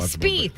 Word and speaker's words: Spieth: Pronounce the guy's name correctly. Spieth. All right. Okay. I actually know this one. Spieth.